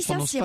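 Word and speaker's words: Saint-Cirq-Lapopie: On dit Saint-Cyr en fait, on dit Saint-Cyr, on ne prononce pas le cul.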